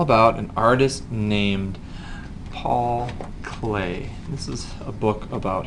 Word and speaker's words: Klee: his name right here it's spelled kle e and he's German and swiss so he spells his name kind of funny but he really was